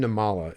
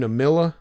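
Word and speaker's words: Nimmala: a southern accent, and he would often mispronounce names of guys, and so I think it's Arjun Namila. Arjun Namala is his name. Uh-huh. This guy called him Arjun Namila.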